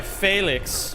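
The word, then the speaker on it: Félix: Oh, I'm sorry, Felix, right? Is how it'd be pronounced, not Felix.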